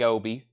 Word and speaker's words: obi: gonna get one it has a UK flag Obi same thing and then I've got two they're